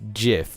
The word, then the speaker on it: GIF: I don't know about almond and stuff, but it's gif. Literally, the creator said, so no discussion.